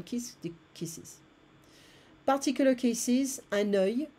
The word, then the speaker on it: œil: Particular cases, un œil, be careful of the pronunciation here. Un œil, one eye, des yeux, un œil, des yeux.